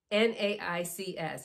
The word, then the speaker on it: NAICS: NAICS, N-A-I-C-S. You're going to hear this often. People pronounce it in different ways. I'm going to call it the NAICS code.